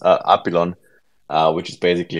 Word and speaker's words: Apillon: name is pronounced uh apilon uh which is basically a combination of apis and the French word for butterfly Papillon so you were quite on the right path with upion but we we kind